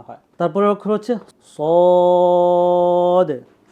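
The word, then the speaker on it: صاد: আসবে ঠিক আছে সদ সদ সদের উচ্চারণটা অনেকটা সিনের মতই কিন্তু সদের উচ্চারণটা এটার সিফাত ভিন্ন।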